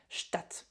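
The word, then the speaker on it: Stadt: Euh, puisqu'on a ici, vous remarquez un a court. Stat. Stat, d'accord ?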